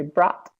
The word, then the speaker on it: brought: is making you crazy so just think of a word like not okay yeah so say not yeah yeah not and then say maybe say got and then say brought back okay perfect oh